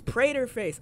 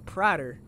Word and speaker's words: Praterface: the taste test mrs praterface oh i was saying it right mrs praterface i was saying prodder oh mr sprayed her